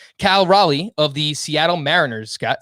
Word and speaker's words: Raleigh: of north carolina though that is correct cal raleigh of the seattle mariners scott so who do